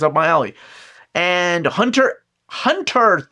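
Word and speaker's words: Hunter × Hunter: It's everybody that was reading the series like it's not Hunter X Hunter. It's Hunter Hunter.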